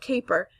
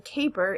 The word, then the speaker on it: caper: is just what and the a in caper is the end of the first syllable k ends with an a so that makes it a long vowel sound whereas again cap is